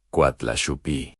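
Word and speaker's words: Coatlaxopeuh: Ella se presenta a sí misma con un nombre en náhuatl, Coatlaxopeo, que se pronuncia Coatlaxupi.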